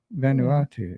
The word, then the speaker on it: Vanuatu: I've tried I think that's the way you pronounce it vanu Vanuatu yeah yeah maybe this yeah so uh land